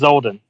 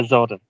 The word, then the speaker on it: Zoldan: Yeah, it's uh So, it's it's pronounced Zolden. It's Yeah, Zolden.